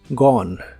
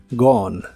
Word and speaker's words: gone: en inglés es gone la o se puede pronunciar normal o como una a profunda que son sonidos muy similares la e del final es muda gone gone usaremos el verbo pensar